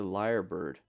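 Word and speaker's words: lyrebird: bird is this the liar bird so it's spell it's spelled like that you're you're on camera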